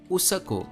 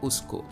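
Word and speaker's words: उसको: have schwa in them nepali for example would call this word usako and not usko odiya calls this word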